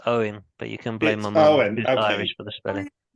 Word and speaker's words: Eoin: in the name so is it Owen or what will you settle this question for me